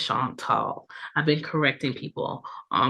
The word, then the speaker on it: Chantal: call me because a lot of people have a hard time pronouncing Chantal, Chantal, not Sean Paul, not Chanel, not Chantel. Okay, it's Chantal.